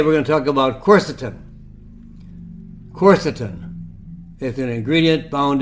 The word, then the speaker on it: quercetin: So today we're going to talk about quercetin.